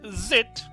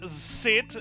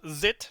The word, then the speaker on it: Zit: have the genius inventor named zit definitely not sit it's spelled with a with a s not with a c so it's zit that's it and we are